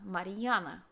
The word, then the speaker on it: Mariana: to my daughter mariana mariana and so it's just the r is pronounced a little bit longer mariana okay so next